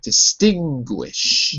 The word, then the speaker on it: distinguish: okay okay perfect so there's a little W to remind you that gu sounds like gu that's exactly right distinguish distinguish okay I got